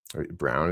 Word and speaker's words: Braun: Brown, as I pronounce it.